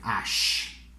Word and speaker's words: h: tricky i know so how would you pronounce it in english first h h and in french so sometimes i write it like this like ash ash this one okay so